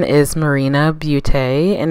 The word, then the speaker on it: Marjani: this is a pressed setting powder the correct pronunciation is marina beauty and it's a Swedish brand started by